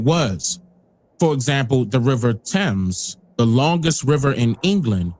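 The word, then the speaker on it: Thames: for example the river temps the longest river in England was named after him notice that it is spelled with a t followed by an H but the H is silent and their dialect the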